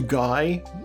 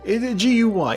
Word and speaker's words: Guy: I assume that's how it's pronounced, as opposed to Guy. G-U-Y. It's a French name.